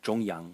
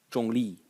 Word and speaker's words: 中: 中立, neutral, and as I said, 中国, China. And the second pronunciation of this character is 中 in the fourth tone.